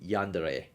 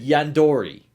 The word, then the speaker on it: Yandere: At least I can say it better than Stuttering Craig trying to say Yandere. It was hilarious. Like, he said Yandori. I don't know where he got the OR, the O, the O there, but Yandere is that.